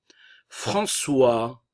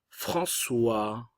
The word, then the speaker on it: François: François, le S ne se prononce pas, nous avons la nasale en. Et ici le O et le I qui va se prononcer wa. N'oubliez pas. François.